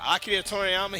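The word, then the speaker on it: 鳥山明: know Akida Toriyama yeah I'm pronouncing his name with an accent because uh snowman will get on my ass if I don't but akid torama he created Dragon Ball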